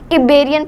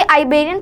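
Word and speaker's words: Iberian: तो ये प्रोनाउंसिएशन इसका अलग हो सकता है, क्योंकि आइबेरियन पेनिनसुला भी कई लोग कहते हैं और इबेरियन पेनिनसुला भी कहते हैं। तो फिर मैं तो इबेरियन ही लेकर चलूँगा।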